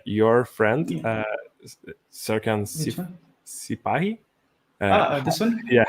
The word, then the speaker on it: Sipahi: Sipahi. This one? Yeah, how is that pronounced?